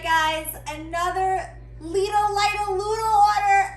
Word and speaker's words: Lidl: all right guys another little light a little order everybody keeps telling me i'm saying it wrong but in germany they say leedle so i'm going to say little another legal order and